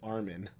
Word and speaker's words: Armin: watching and i'm like i'm not convinced the characters in the show know how to pronounce each other's name at this point i was like it's like it was just so weird because i'm like i thought we all agreed it was armin um it close enough close